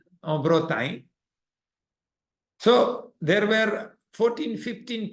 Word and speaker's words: Bretagne: How do you say in French? Bretagne.